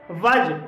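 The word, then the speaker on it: wedge: वज। वज में भी डी के बाद जी ई आया है और इसलिए इसे वज पढ़ा जाएगा।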